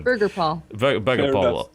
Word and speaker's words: Birgirpall: two men responsible for the unpronounceable channel that is just called burger paul because that's what we do you know burger pal yes b-i-r-g-i it's it's down the